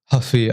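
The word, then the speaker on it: Ruffy: Moving on, BSD versus Mauricio Huffy. I don't know how you say it. Apparently the R is silent if you're in Brazil.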